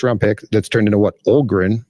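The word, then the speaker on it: Öhgren: got a first round pick that's turned into Olgren, right? Is that correct pronunciation?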